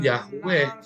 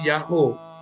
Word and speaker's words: YHWH: Jadi kalau ada tulisan YHWH, ya maka bacanya bukan Yahweh. Nggak mungkin jadi Yahweh, akan jadi Yahoo. Karena huruf H yang terakhir adalah perpanjangan dari O yang sebelumnya.